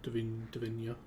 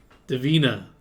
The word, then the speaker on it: Davina: money to davina's room Divina Divina determined not to pronounce I can't remember it Davina Divina it's like Divine but uh no it's like David but uh all right Davina